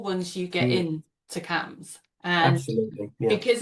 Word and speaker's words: CAMHS: CAMS is spelled CAMHS to anyone.